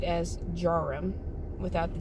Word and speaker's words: Djarum: printed it's spelled to jaram but it's actually pronunciated as jarom without the d because the d is silence